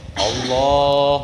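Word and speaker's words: الله: kan bunyi Allah tuh Allah tapi ini mah yang dipanjangkan itu awalnya Allah tidak boleh harus menggunakan yang panjangnya itu lamnya jangan Alif alifnya kalau alifnya yang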